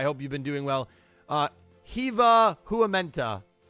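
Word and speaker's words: Hyvää huomenta: I love the 2 dots over the A's. That means you have to pronounce it like right? Hiva Huamenta. Hiva Huamenta. Hiva Huamenta. Now I'm saying it like in Italian.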